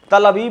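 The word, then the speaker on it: תל אביב: तेल अवीव, जिसको तल अवीव कहना चाहिए, रवीश ने कुछ प्रोनाउंसिएशन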